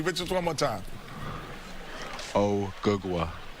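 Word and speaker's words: Ogugua: O gagwa.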